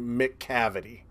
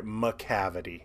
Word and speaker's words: Macavity: dumbest names in history mick cavity mick cavity I'm sorry macavity I'll say it right macavity played by E